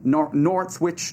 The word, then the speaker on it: Northwich: sentences were handed down to a 20-year-old from Northwich. Northwich, is that correct pronunciation?